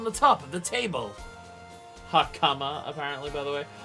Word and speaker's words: hakama: Hakama, apparently, by the way. Both the final syllables get stressed, which doesn't actually exist in Japanese. It's pitch-based, so they really are the same stress, but high pitch, but eh.